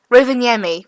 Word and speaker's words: Rovaniemi: Rovaniemi. Rovaniemi.